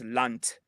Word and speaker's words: Land: would pronounce that as lant right pronouncing pronounciation is terrible on my part but that's they're taking the voicing away from the D from the D's so